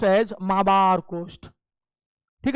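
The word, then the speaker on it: Malabar: ये मालाबार तट, प्रोनाउंस करते हैं इसको माबार, एल साइलेंट होता है, लेकिन हम लोग को आदत हो गई इसलिए मालाबार बोल देते हैं, otherwise it is pronounced as माबार कोस्ट।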